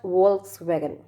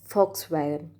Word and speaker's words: Volkswagen: a german brand made in germany it's not volkswagen it volkswagen volkswagen being but no i said it wrong let me tell you it's a german brand and it's pronounced as volkswagen volkswagen now if you want to know why